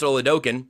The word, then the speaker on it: Oladokun: right now, Chris Oladokun, which I'm pretty sure is how you say his name, he's the first in line to be the guy to lead that group.